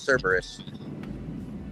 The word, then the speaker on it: Cerberus: Nobody can pronounce it, including me the first time, but it's Cerberus.